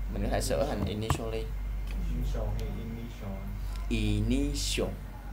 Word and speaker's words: initial: Initial phải tổ. Khi mà hình thấy chữ T đi với chữ I đi với chữ A thì thường sẽ đọc là show.